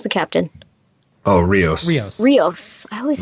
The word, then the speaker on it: Rios: Rossi owed who's the captain Oh Rios yes Rios I always say his name wrong you know when Rafi is in her